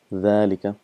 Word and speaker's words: ذلك: So Allah used the word ذلك quite a lot in Quran. So again just reminding you that it is pronounced as ذلك, but this alif is omitted because of constant usage and it's written as